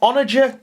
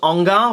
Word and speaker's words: Onager: Well, I have got an Onager Dune Crawler. That is the correct pronunciation of it as well. I thought it was Ongar, but no, it's Onager Dune Crawler.